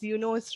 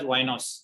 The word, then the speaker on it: YNOS: It's YNOS, right? Yeah. We pronounce it as YNOS. YNOS, okay.